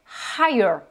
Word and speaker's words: higher: Autre homophone, autre binôme, higher. Là, toujours avec le H qu'on prononce bien.